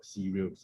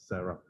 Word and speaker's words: CERARL: A lot of people mispronounce as cereal, but it's not cereal, no, it's not edible cereal, but it's CERARL. CERARL.